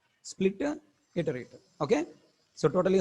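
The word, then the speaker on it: Spliterator: another name split iterator this is not special iterator I pronounce it as a special iterator in the video it is not special iterator it is Splitter iterated Splitter iterator okay so totally how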